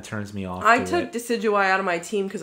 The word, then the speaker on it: Decidueye: the uh rowlet final evolution how do you pronounce that name i don't really like i did actually decidu or something like that decidueye yeah decidueye actually i just real quick i caught one